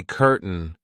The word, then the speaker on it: curtain: very British cotton and where can we say curtain curtain the curtain Rises it kind of disappears but it's still kind of there so when we pronounce